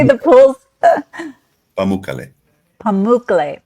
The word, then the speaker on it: Pamukkale: We pick you up, we take you to Pamukkale.